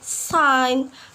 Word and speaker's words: sign: So a letter G can be silent too when the letter comes before N. For example, like sign, campaign, design, foreign. Yep, we not pronounce the letter G, right?